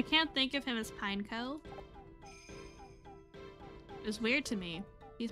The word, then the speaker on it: Pineco: how you say it is it pineco Alan but pineco sounds weird I prefer pinecho it sounds cooler that way like pine cone I guess that's true